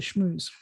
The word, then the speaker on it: schmooze: a spiel like a schmooze it's not a smooth it's a schmooze um which reminds me of some of the